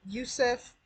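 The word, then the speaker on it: UESF: like that and then there's this program called Yusuf it's spelled u-e-s-f um this is a utility grant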